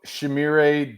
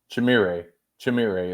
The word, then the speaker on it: Shamire: I have been going Shamir, and he corrected us on Wednesday night. And Shimmer, I still can't get it right, Nick. Yeah, well, you still haven't gotten Billy Napier's name right, but I don't know that you'll need to figure it out long term. We'll just go Chim. Just go Chim. Chimire is how you say it.